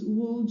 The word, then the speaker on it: would: Remember to tell the child that letter L in those three words is silent. So they are not articulated could, would, should, as some ESLs mispronounce them.